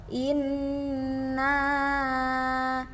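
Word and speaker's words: إِنَّا: Hukum bacaan gunnah pada lafal inna. Dalam ayat pertama itu terdapat nun bertasydid. Jadi cara membacanya ditahan selama 3 ketukan atau 3 harokat. Inna. Nah, bacanya dengan cara ditekan.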